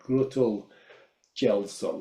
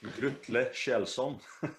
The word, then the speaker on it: Grutle Kjellson: I can't pronounce his yeah, name. Is it like Grutul Gelson or something? yeah, that guy has a difficult name, Grutle Kjellson, There you I go.